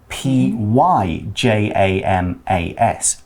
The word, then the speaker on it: pyjamas: and a quick note in british english we spell the word pajamas with a y p y j a m a s pyjamas we do pronounce it in the same way and you can also